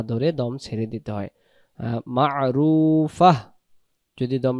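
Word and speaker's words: مَعْرُوفَةٌ: দমটা ছেড়ে দেব আমরা, তখন ফা উচ্চারণটা এমন হবে, বাংলাতে ফয় আকার ফা, আর শেষে যখন হা থাকে, হ থাকে, ফাহ, ফাহ এমন হবে, মা'রুফাহ এমন হবে।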